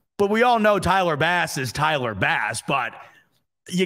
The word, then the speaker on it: Tyler Bass: pronunciation guide Tyler bass next to Bass they write in parentheses like the fish that was the first